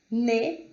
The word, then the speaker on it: nez: significa aluno, nous, que é nós, não é pronunciado o S, nez, que significa nariz, e laid, que é feio, ok?